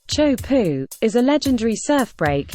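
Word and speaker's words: Teahupoʻo: The Majestic wave and surfing Haven T poo pronounced Cho pu is a legendary surf break located on the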